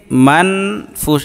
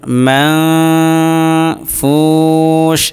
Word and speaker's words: منفوش: অতএব এই নুনকে মান ফুস এভাবে বলা যাবে না, বরং নাকের ভিতরে নিয়ে উচ্চারণ করতে হবে মাং। দেখুন মাং ফুস একালিফ।